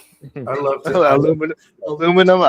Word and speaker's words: aluminum: I love Aluminum. Aluminum or aluminium. There is another one. Oh yeah, the British always are aluminium and instead of aluminum.